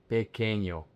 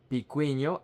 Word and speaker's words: pequeño: The word is pequeño. This syllable, the QUE, is que, not que. And it's not pequeño or picueño, it's pequeño. Grande.